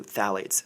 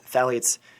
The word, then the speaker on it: phthalates: was a heavy amount of water pollution specifically phthalates phthalates it's spelled p-h-t-h-a-l-a-t-e-s and phthalates are gender bender chemicals